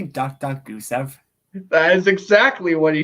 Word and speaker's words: Gusev: Gaisev. terminated Nikita his Gaisev. contract. yeah, Gaisev, sorry, Gaisev. Gaisev, Gusev. It's one of those two. But again, you were pronouncing it wrong. So it's Goose.